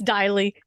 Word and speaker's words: Deily: correct you on the pronunciation of my name is Diley oh it's okay crap now I'm so sorry you know what I say it rhymes with Riley and it's funny because